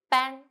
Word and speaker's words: 班: 安 from your nose.